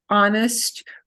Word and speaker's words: honest: one of our words here's one of our words with an H that we don't pronounce so the hard thing for us as English speakers remember that H's go silent all the time unless they're a CH combination is somebody who is honest who is sincere who